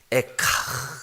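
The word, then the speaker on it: איכה: 슬픔의 노래 그렇잖아요 근데 그 히브리어도 발음이 에카 그래 에카 근데 이게 뭐냐 하면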